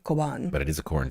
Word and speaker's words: Cobán: this place before, but there's no way, given that it's a Spanish word, that it's Coban. Yeah. It's not Coban. But And there's an accent chip. over the A, Coban.